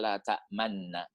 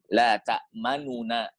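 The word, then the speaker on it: لَا تَأْمَنَّا: Qalu ya abana ma laka la ta'manna. Ya, ini kalau Ustaz Saiful Anwar mengatakan hukumnya ismam. La ta'manna. Ada manyun gitu ya. Sebenarnya bacanya la ta'manuna.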